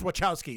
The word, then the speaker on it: Wachowski: pronounced Malkowski zwo Chomsky's he says wachowski z-- i think it's with cows keys I don't know they